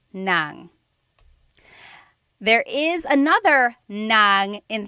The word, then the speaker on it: ng: And then if you want to add an object, the sentence marker here is n g nang.